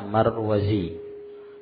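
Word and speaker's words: مروزي: Antum perhatikan perbedaan bacaan kalau ee sebelum ya itu ada Za ya maka bacanya marwazi Z ya dari Marwah Adapun kalau d d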